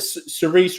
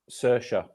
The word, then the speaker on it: Saoirse: I'm going to screw up the pronunciation for this. So is it Cerise Ronan? Saoirse.